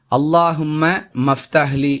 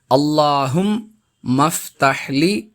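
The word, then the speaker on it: اللهم افتح لي: நாம் அறிந்து கொள்கிறோம் அன்பிற்குரியவர்களே அல்லாஹும்ம மஃப்தஹ்லி என்று சிலர் இந்த துஆவை தவறாக உச்சரிக்கக் கூடிய நடைமுறையையும் பார்க்கிறோம் அல்லாஹும் மஃப்தஹ்லி அபுவாப ரஹ்மத்திக்க என்பது இதன் சரியான உச்சரிப்பு மீண்டும் மீண்டும் கேட்டு மனனம்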